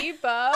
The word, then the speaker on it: Tebow: I saw somebody wearing like a T, like the letter T with like a bow tie, like a bow, that's how like you figured it T-bow. And I was like, oh, okay, that's how you say it.